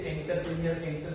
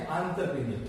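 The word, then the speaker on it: entrepreneur: इसे प्रोनाउंस करते हैं एंटरप्रेन्योर, नॉर्मली हम पहले से एंटरप्रेन्योर कहते हैं, तो इसका प्रोनाउंसिएशन है एंटरप्रेन्योर, ओके।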